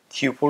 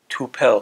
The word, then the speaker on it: tuple: خب الان اگر تی رو نشون بدم میبینید که تیوپل ساخته شد. خیلی ها میگن توپل تو زبان فارسی، توپل نیست، تیوپل. اینجوری باید تلفظ بکنید.